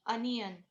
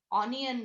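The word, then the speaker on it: onion: अनियन, ऑनियन नाही, अनियन.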